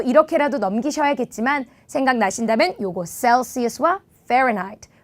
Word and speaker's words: Celsius: 이때 이 C 발음은 더블 S 발음이죠. shell 아니고 cell. 써 할 때 그 S. Celsius.